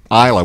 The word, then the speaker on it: Islay: So he pipes on there that it's from Isla, which is spelled Islay.